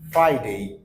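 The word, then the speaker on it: Friday: গলার ভিতরে Thursday Thursday and last one ইজ ফ্রাইডে ফ্রাইডে সো আপনার সামনের দাঁত ঠোঁটা এখানে লাগবে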